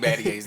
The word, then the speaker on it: Battier: That's the first time I've ever heard the R on Shane Battier's name. That's the first time I've I ever was heard. like, how do you say it? Battier.